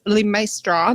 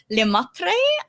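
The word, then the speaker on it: Lemaître: Maistre. Did I pronounce that correctly? So it's actually pronounced 𝐿emaître, so it's a silent S in my name, but people often just say 𝐿emaître, lepastry, whatever.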